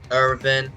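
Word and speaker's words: Eren: the backstory of Levi irin well sorry I do pronounce it Aran because of the English do that's how they pronounce it as Aran yeah yeah for sure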